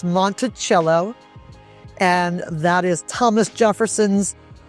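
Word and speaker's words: Monticello: One is Montichello. People often think it is Monteello, but it's Montichello.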